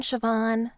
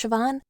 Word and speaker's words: Siobhan: to say my name it should be spelled s h i v a n or something but that's what Irish names will get you he'd probably recognize me